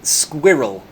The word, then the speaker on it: squirrel: said squirrel yeah squirr I say squirrel squirrel squirrel that kind of Blends into one syllable squirrel squirrel like Squirtle